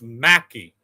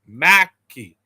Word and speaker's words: Mhakey: The way you pronounce my name is pretty much simple. It is M without the H, A C K E Y. That's how you pronounce it. It's almost it's Mhakey. Mhakey. Or the same way you can do it is like Makey. It's like Mhakey. Mhakey. It's like Makey.